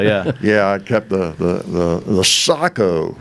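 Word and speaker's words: Sako: Yeah, I kept the Sacco. Is how you pronounce it, but everybody calls it Seiko, but I think it's Sacco, that Bavarian.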